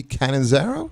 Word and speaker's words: Catanzaro: Cassidy Catanzaro?